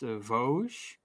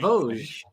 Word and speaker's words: Vosges: The region is pronounced Vosges. So I was right, Vosges. Yeah, Vosges. Yeah, it's almost like Vosges, but more French.